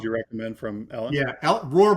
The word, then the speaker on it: Rohr: Yeah, Roar, by the way, is spelled Rohr.